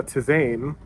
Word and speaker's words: Tzain: Now, Amari, Zeely, and her brother Tizane, or Tizan, I'm going to say Tizane because it's spelled Tzain, have found the last thing that they are looking for.